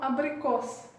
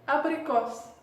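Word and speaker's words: абрикос: Abricot, on prononce comme abricos. Donc à la fin, on prononce S. On répète, abricos.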